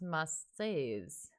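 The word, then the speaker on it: Marsyas: the halfway mark um turns out it's french and it's pronounced must-sees what can you say that oh like mercy like the no m-a-r-c yeah like that's how you say marseille though yeah marseille must say yeah but that's the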